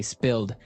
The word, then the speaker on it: spilled: Okay, spilled. Now, it's pronounced differently from spell, right? That's right, to It has spill. An I, spilled.